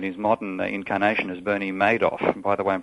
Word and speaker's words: Madoff: So Bernie Madoff with the money.